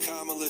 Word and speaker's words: Kamala: to appeal to you Kamala I know it's pronounced Kamala trust me I have the same with my